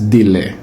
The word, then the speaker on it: délai: Le mot se prononce délai.